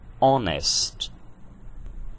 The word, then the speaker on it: honest: Já a palavra honest possui um H mudo.